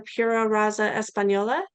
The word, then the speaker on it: Pura Raza Española: Juliana is asking about and I'll probably pronounce this incorrectly, but the PRE horses, the Pura Raza Española.